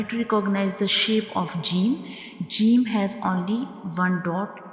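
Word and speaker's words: جيم: To pronounce Jim, we touch the center of the tongue to the hard palate, like Jim, Jim, Jim.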